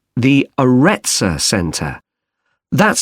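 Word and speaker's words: Aretsa: It's called the Arettza Center. That's spelled A R E T S A.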